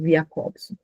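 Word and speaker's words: Jakobson: se escreve Jacobson e se diz Jacobson.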